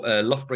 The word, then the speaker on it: Loughborough: So Loughborough University, as you can see from how I pronounce it, we have over 17,000 students.